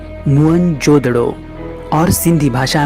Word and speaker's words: मोहनजोदड़ो: मोहनजोदड़ो शब्द का सही उच्चारण है मुअनजोदड़ो और सिंधी भाषा में इसका अर्थ है मुर्दों का टीला।